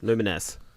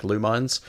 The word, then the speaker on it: Luminous: I've never played a Luminous game. I only learnt that's how you say it. Like about 2 days ago, I thought it was like Lumines.